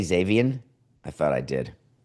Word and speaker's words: Xavier: Did I not say Xavier? I thought I did. I may have pronounced the X as an X. Oh, Xavier.